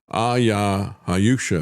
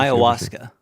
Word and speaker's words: ayahuasca: Hayusha, if I'm pronouncing that correctly. Do you know how that's pronounced, Travis? Ayahuasca. Ayahuasca? Yep. Is that it?